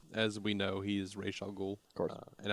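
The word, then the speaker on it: Ra's al Ghul: R Alou course and I do say re alul yeah yeah that's in my not specifically no I I've I've looked into it and apparently Raz or some version of Ross is is probably more more uh accurate but the Creator says his name is R that's all it is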